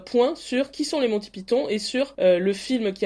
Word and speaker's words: Monty Python: sacrégal oui alors déjà on va clore le le débat c'est comme fausse ou faussie ici on dira Monti Python et pas Monty Python mais voilà on on le prononcera la française et donc vous les